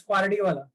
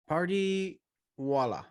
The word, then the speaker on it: Pardiwala: How do you pronounce the last name? It's Pardiwala. Pardiwala.